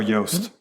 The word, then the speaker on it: Yoast: But you would think it was a pretty simple word to spell, but it's Youst, Yoist. Yoist? Or they pronounce Like it moist. Yost or Yoist Yoist. when it's Yoast.